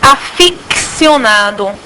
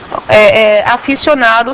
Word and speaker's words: aficionado: tem que ficar combil nós pronunciamos aficcionado hoje pronunciamos teríamos de pronunciar porque não pronunciamos aficionado seria a pronúncia adequada um outro que nós